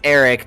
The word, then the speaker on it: Aric: me to pronounce that it's Eric just with an a instead of an e okay Eric you um